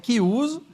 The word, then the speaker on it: Chiuso: Que se escreve Chiuso, mas é Chiuso.